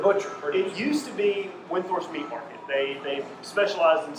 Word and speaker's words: Windthorst: Windthorst, right? Windthorst, not Windhorst. Windthorst. You got to say it right.